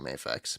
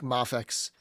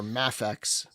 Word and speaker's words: Mafex: properly I I still I still can't stop stop saying mayx but I I think mafex or mafex one of those is is more correct than MX I just can't stop I